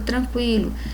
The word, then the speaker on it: tranquilo: Porque o QU aqui, o U ele é pronunciado, então o QU não constitui dígrafo.